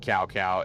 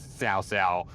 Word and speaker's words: Cao Cao: the worst in that it's not Cao Cao. It It is Ts'ao Ts'ao.